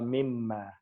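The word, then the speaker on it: مما: And then the noon is actually not pronounced. So it's also eliminated in the writing just for this word. And it becomes wa mimma.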